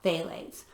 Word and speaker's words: phthalates: of the big concerns about fragrances is the phthalates it's p uh pH uh I'm sorry p h t h is how it's spelled p-h-t-h-a-l phthalates and they are known endocrine disruptors and the